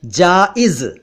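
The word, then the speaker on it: जायज़: इसका उच्चारण ध्यान से सुनिए, जाइज। पहले ज के नीचे नुक्ता नहीं है और दूसरे ज के नीचे नुक्ता है, यानी पहले ज और फिर जा।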